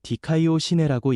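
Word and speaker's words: δικαιοσύνη: 위에 이른다는 의미 에라는 말은 헬라어로 디카이오 시내라고 읽습니다. 의는 하나님 앞에서 올바르게 인정되는 신분 하나님께 죄없는 자로 받아들여지는 상태라는 뜻입니다.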